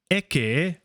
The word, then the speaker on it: ecce: So ecce, make sure we get that pronunciation.